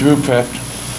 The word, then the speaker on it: Ruprecht: It's Ruprecht. Okay. It's pronounced just like it says, it's just C-H-S-K.